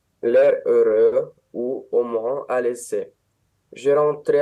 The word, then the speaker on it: à l'aise: À l'aise, quand on a un seul S entre deux voyelles, c'est un Z, à l'aise.